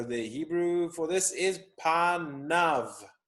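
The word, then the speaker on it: פָּנָיו: So the Hebrew for this is panav. Panav. This is not a nun sofit, it is a vav. A v. Panav. You don't pronounce the yod necessarily. It's just panav.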